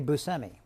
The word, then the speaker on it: Buscemi: always comes up right I say I say Buscemi but you do growing up my family said